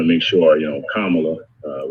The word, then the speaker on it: Kamala: make sure you know kamala uh we always want to say her name right so senator kamala harris right i always tell people come on look right that's this man